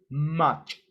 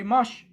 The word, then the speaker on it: much: i make for example i always make a mistake with the word much i say much much and that's not the pronunciation the pronunciation is much so but sometimes i say mush and that's my problem sometimes i confuse ch and sh sometimes that happens to